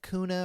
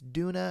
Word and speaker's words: Doona: came out on Halloween I said the name wrong I said kuna or something like that it's Duna and we're gonna be